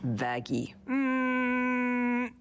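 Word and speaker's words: Vaggie: ] like you it's why I named you vagi actually it's pronounced vagy just out of uniform anyway you sure [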